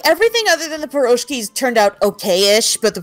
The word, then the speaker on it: pierogi: It's not like the best thing she's ever made, but the pierogies, how do you say it?